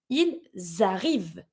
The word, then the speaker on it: ils arrivent: Remember that when it's the verb finishing with ENT, the ENT is always mute. But I have my S and my vowel. I connect. Ils arrivent.